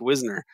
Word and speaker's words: Wisner: I mean, Katherine Graham's husband, Phil Graham, his best friend was Frank Wisner, you know, the original Dirty Tricks guy. Wisner, I thought it's pronounced.